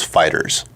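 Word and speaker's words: Dragon Ball FighterZ: out on ps4 and xboxone that it is fighters yeah I'm sure it is we'd like that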